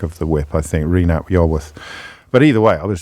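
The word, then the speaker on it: Rhun ap Iorwerth: I think if Reen ap Iorwerth would have been a better crack of the whip, I think, Reen ap Iorwerth.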